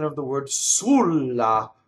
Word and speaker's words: sulla: accent of the word sulla the accent should be on the first syllable but he's like suru